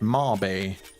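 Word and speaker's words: Mabe: Back to May village or it's not called May Village. It's actually called Marb Village, but I just call it May Village just because I always have. But it's actually pronounced Marby.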